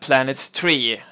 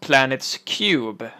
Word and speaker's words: Planets3: to play cubicle drifts planets three well it's actually pronounced planets cube and it's a voxel-based